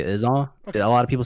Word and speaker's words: IzAw: I personally say Izaw. Okay. A lot of people say Izaw.